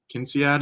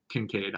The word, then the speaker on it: Kincaid: unquote significant interest in Kinsey ad if that's how you say his name Don King Kate I think Kincaid I knew I was saying that wrong yeah hey hey whoa